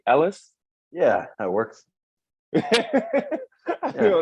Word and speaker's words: Ellice: for everybody watching this is Mr hey pronounce your last name Ellis yeah that works you know it's gonna pronounce